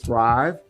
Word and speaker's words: Thryv: She is with Thrive, and that's spelled Thryv.